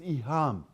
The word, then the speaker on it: iham: And they introduced a new concept in Sunni Islam, which is iham. Iham, I spell it I-H-A-M, iham.